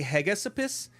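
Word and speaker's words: Hegesippus: uh I can't even say this guy's name it's spelled h g e s i p p u s I would say heg Esopus from 160 ad Josephus from 93 ad tulian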